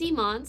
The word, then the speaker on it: Imane: People say Pokimane, but isn't your name pronounced Imane? My name is Imane so it's the second half of the name, I-M-A-N-E.